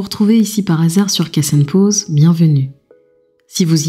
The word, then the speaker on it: Kas Enn Poz: en île et Villaines Cassen pause vient du créole mauricien et ça se prononce bien cass bien que ma langue